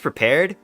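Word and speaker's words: Prepar3D: microsoft flight sim and prepared it's pronounced prepared but has a little 3d um and it's owned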